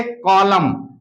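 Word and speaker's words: column: सदैव उच्चारण होता है किसी वर्ड में एम और एन एक साथ आने पर एन साइलेंट होगा अगर किसी वर्ड में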